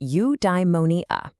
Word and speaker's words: eudaimonia: Okay, I've got a new word for you, eudaimonia. It's pronounced you-die-mo-ni-a.